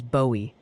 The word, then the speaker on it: Bowie: And now the Texas delegation wants you to know Bowie is Bowie like the rockstar David. Okay. So it's Bowie, not Bowie.